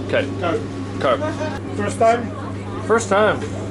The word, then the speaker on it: Cuyp: Is it Albert Cuyp or Cuyp? Cuyp.